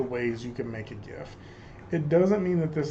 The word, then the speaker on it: GIF: this week and yes i pronounce it gif i do not judge you if you pronounce it jif um but we are